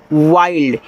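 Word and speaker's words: wild: एन डी तो behind W आई एल डी वाइल्ड क्योंकि आई एल डी आपका आइल्ड तो डब्ल्यू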